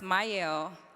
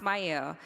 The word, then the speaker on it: Mielle: When I started Myel, and it's pronounced Myel. People pronounce it wrong all the time, but it's okay. It's pronounced Myel.